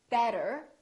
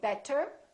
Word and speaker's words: better: D so for example when we say the word better we have a vowel t and another vowel this T changes and it becomes this fast D sound so we don't say better we say better better so it's not a really strong D it's not better it's a real quick better better look again we